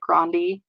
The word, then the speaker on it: Grande: like well I mean there's talk about like Ariana Grande and like how her dad pronounced dick grandi oh yeah so like even her grandpa pronounced it a different way yeah what she does